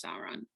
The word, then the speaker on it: Sauron: person that they think is the necromancer is sauron and he what happened that's how you say